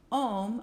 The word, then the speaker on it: Om: Om rhymes with home, since the A and U, when combined, become a long O sound.